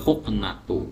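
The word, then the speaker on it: الحقنة: Ma ini posisinya sebagai badal, badal dari asyorotu yang dibaca dengan dhammah karena dia khobar, sehingga kita bacanya juga wal huknatu seperti itu ya.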